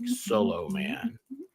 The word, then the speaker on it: Solomon: Harry Solomon four dick Soloman dick solom man that's how he pronounces his name that was a fun